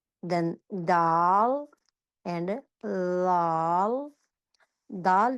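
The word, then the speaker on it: د: Dal pronounce from the टिप ऑफ the tongue touching the roots of द टॉप to front teeth.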